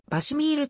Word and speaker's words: VASIMR: 続けられている英語の略称である場所へまあは場所ミールと発音するばせまーす